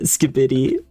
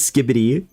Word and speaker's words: skibidi: Oh, I love the way you pronounce that, skibidi. Like the normal pronunciation is skibbity. Like you put the emphasis on the first syllable.